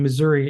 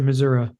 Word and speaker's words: Missouri: I mean, Missouri, is that still considered the Midwest? Yes. You guys pronounce it Missouri, right? But I say Missouri, I think we had